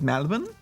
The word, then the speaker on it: Melbourne: you noticed that when when goose says melbourne he says malibun oh some people from melbourne do that they say melbourne like it's spelt with an a sup good game so